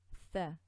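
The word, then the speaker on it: ث: Okay, so ad and ath, and this letter is often mistaken by lots of sisters by making it into a scene. This is not a scene. This is a tha with the tongue out.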